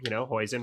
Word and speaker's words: hoisin: Hoisin rhymes with poison, so that means I don't like it.